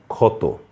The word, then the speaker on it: ক্ষত: ধরুন ক্ষত ষিয় দিয়ে লিখছি প্রথমেই খিয় আছে উচ্চারণ হচ্ছে ক্ষয়ের মত ক্ষত তারপরে হচ্ছে ক্ষুদিত এটিও দিয়ে লিখেছি আমরা।